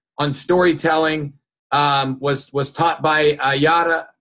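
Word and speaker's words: Yara: And the information I'm going to share with you later on storytelling was taught by Yada. It's pronounced Yada with a D. It's pronounced with a D, but it's spelled Y-A-R-A, Golden.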